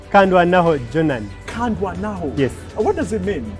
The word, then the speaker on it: Kandwanaho: that name but I failed what's what's the pronunciation of your name kandan jonan kandan yes what does it mean God fought for